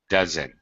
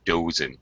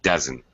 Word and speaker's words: dozen: mispronunciation dozen it's a dozen it's the kind of schwas sound not a not a long o not dozen but dozen dozen that's it dozen